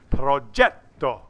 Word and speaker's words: progetto: that's how it's pronounced there is no J Italian it's a G but it's pronounced progetto with the emphasis on that Jeff it's not wrong ghetto